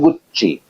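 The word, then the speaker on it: Gucci: एक ब्रांड है गुच्ची उसकी स्पेलिंग है डी जी U double C आई बोलते हैं गुच्ची वर्षाची यावा इस टाइप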